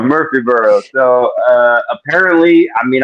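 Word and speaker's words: Murfreesboro: Tennessee uh I I can't say it correctly probably M Mur murbo is that that's there we go Eddie Murphy is Murphy burrow oh there we go Murphy burrow so uh apparently I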